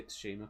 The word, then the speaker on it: Tsushima: Tsushima Island, Silent T. But I'm gonna say Tsushima because it sounds better. But say Silent T every time. Well, it's Shima, isn't it? You sort of Shima. don't really. You don't go Tsushima, but it's called Shima.